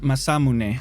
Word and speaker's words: Masamune: okay my man danny boy tells me it's pronounced masamune so that's what we're gonna say masamune is edge guys this is a vital part